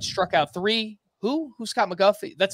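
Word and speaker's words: McGough: Scott McGuff walked one but struck out three. Who's Scott McGuff? That's spelled M-C-G-O-U-G-H.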